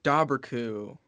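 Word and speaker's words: Dobhar-chú: from our perspective Jasmine you say dobberku and I'm thinking dobber like like a mispronunciation of Doberman and coo like cool without the L it's cool so it's a doberman coup and I'm like I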